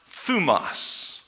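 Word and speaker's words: θυμός: It's pronounced thumos.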